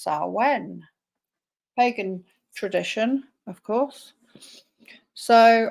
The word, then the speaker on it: Samhain: It's spelled Samhain, but it's Samhain.